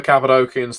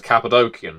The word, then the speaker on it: Cappadocian: And I say Cappadocian now, not Cappadocian, because the language of, well, the Cappadocians would have spoken in Cappadocia had a hard C or K. They weren't in the habit of using C's to go sh or s.